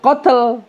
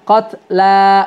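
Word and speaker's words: قتلى: Lamnya dua harakat, qatla bukan qatl. Ya, bukan, sekali lagi bukan qatl tapi qatla gitu ya.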